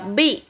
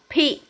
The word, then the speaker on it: peak: Con chú ý là không đọc là beak. Nó nhầm với từ lớn thôi đấy nhá. Con đọc là peak, peak, peak. Từ này là âm peak, không phải beak. Con chú ý nhá.